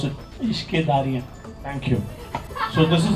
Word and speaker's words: Ishqedarriyaan: So please pronounce it. Ishqedarriyaan.